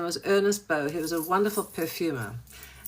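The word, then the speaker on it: Ernest Beaux: B A you don't pronounce the X in French. His name was Ernest Bow.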